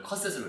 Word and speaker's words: 커샛: 이 메리 컷셋은. 그래서 발음을 컷셋으로 이렇게.